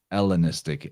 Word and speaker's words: Hellenistic: hellenistic helen helios elios the greeks would not aspirate the h the letter that we get from greek is that looks like an h is eta e and it would transliterate as eta eta so the hellenistic era is the el ellenistic era you know helios is